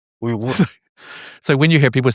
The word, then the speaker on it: Uyghur: But the G is like in the back here, maybe. Yeah, yeah. It's a unique sound. Uyghur.